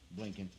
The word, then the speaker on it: Blinken: Blinken.